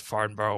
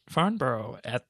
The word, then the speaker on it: Farnborough: But this is a brand new venue at Farnborough, which is effectively at the airport there. It's Farnborough. British people don't pronounce half their vowels. It's Farnborough.